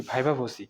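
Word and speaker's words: viva voce: আই ভি এ ভাইবা ভি ও সি এর উচ্চারণটা হবে কি ভাইবা ভোসি যারা ভাইবা ভিত্তিতে রয়েছেন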